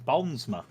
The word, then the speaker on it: Boomsma: get down to boomsma i think he's also told me how to pronounce his name rob come on good evening gentlemen by the way come on bone smoke bombs boats bombs man yeah it's bondsman we uh we've had some